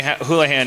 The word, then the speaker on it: Houlihan: Houlihan. Am I pronouncing that right? Yes. Okay. It's not like Houlihan. Oh God, no.